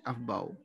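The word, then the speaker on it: Aufbau: ये German language का word होता है अफबाउ, प्रोनाउंसिएशन।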